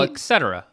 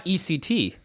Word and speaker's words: etc: make sense okay um ECT how do you say that eect yeah eect oh etc etc do do it slower Etc you do the first one etc etc three syllables Etc and it's not ECT it's ET no yeah